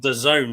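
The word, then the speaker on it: DAZN: But anybody from Britain who watched on Dez Zen, is that how you pronounce it? They call it the zone, don't they?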